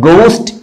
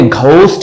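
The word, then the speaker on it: ghost: एग गोस्ट ठीक है तो गोस्ट इसको हम पढ़ते घोस्ट नहीं पढ़ते याद रखिएगा गोस्ट राइट गेस्ट जी यूई पूरे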